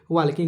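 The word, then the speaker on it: walking: ए एल के एन वाकिंग ल silent रहता है इसमें ठीक है नहीं दिख रहा है आप देखिएगा वाकिंग इसका वाकिंग इसको नहीं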